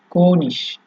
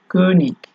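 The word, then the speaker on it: König: এরপরে হচ্ছে আপনার কোনিশ, ঠিক আছে, বা কনিক, বা দুইটা ইউজ করতে পারেন।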